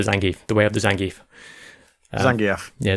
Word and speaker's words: Zangief: I learned the Zangief, the way of the Zangief. Zangief. Yeah, Zangief, yes. Excuse me. Apologies. Now that you know the correct pronunciation, you know?